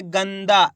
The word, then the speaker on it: गंदा: मा में अनुस्वार की मात्रा मन, च, मंच, गा में अनुस्वार की मात्रा गन, दा, तो मिलके बन जाएगा गंदा। तेजी के साथ उच्चारण निकालना है, गंदा, इस प्रकार से पूरा ना का उच्चारण नहीं निकालना, तेजी के साथ आधा ना का उच्चारण निकालना है, गंदा।